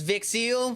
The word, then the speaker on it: Vix Seal: a young all right my name is vix seal will you just call me no it does not rhyme with pixel I started watching anime